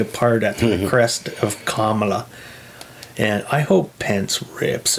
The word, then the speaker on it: Kamala: Now they want Camilla. Oh, I said it wrong. Kamala.